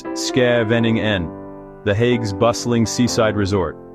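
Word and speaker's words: Scheveningen: You arrive in Shaeningan, pronounced Ske Vening Nen, the Hag's bustling seaside resort.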